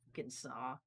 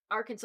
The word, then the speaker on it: Arkansas: Arkansas. How Not come that we big of a pronounce Kansas and we don't pronounce Arkansas, Arkansas?